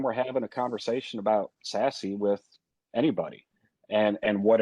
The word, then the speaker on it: SASE: it's like pat said secure access at the service edge pronounced sassy um right a little